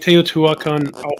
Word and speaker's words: Teotihuacan: And there's weaker versions of it, like Teotihuacan.